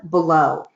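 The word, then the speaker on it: Beaulieu: economist that I follow his name is Ellen below it's spelled a LAN below B ei u li e u the name of his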